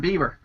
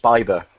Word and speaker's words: Bieber: Still Why Huckleberry I than Justin Bieber. I think you'll find it's pronounced Bieber.